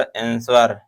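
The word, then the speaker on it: answer: Next question है कह रहा है वि is silent letter in the word आंसर एक आंसर शब्द दिया हुआ है। एक आंसर शब्द दिया हुआ है। इस आंसर शब्द में पूछ रहा है कौन सा साइलेंट यानी मूक अक्षर होता है? तो जो आर ई और एस ये तो साइलेंट होते नहीं जो होता है साइलेंट लेटर वो डब्ल्यू होता है।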